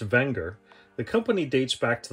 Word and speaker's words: Wenger: bit more about the watch thank you technically pronounced wenger the company dates back to the late 1800s